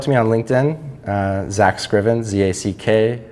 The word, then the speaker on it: Scriven: They can reach out to me on LinkedIn, Zack Scriven, Z-A-C-K, Scriven, rhymes with driven.